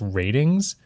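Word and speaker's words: RTINGS: A website called, I believe it's pronounced Ratings.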